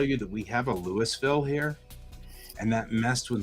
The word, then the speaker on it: Louisville: He goes, the way you pronounce Louisville is put a bunch of marbles in your mouth and then say Louisville. Louisville.